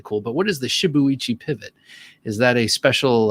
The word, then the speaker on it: shibuichi: well with shibuya pivot shibuichi right you pronounce every every letter right in japanese that looks like it's japanese shibuichi pivot okay please